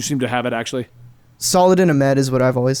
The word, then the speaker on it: Saladin Ahmed: I have a weird feeling that what's the pronunciation for the guy's name who does Miles, since you seem to have it actually? Saladin Ahmed is what I've always said.